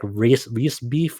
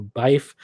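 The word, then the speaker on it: Riesbyfe: you pronounce her name it's like r-i-e-s-b-y-f-e that's her her name it's like race beef or bife but be some people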